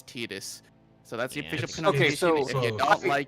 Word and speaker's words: Tidus: There is a weird thing of when Japanese companies ask English studios to pronounce things in certain ways, they do it by syllables, even though when it's not pronounced that way. Regardless, it doesn't matter. It's Tetus. Uh I believe the card name is Tetus Yuna's Guardian. Yep. Yes. I think Ty sounds better, but trying to grab